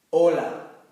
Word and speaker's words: hola: Ya os comenté que esta letra no tiene pronunciación. Vamos a ver los ejemplos. Hola.